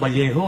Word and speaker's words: Vallejo: Sabi ko wow pare ang ganda pa ng valejo. No sabi niya porky careful. Bakit? Kasi dito sa Valjo pag double L ang pronunciation niyan Valejo.